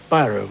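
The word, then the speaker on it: Bíró: first mass-produced ballpoint pen byro or absolutely right buau is the right pronunciation and you've got 22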